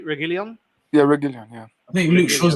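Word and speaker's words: Reguilón: Obviously, the idea of playing Luke Shaw as a central defender and to accommodate Diogo Dalot or Reguilon. Have I pronounced correctly? Reguilon? Yeah, Reguilon, yeah.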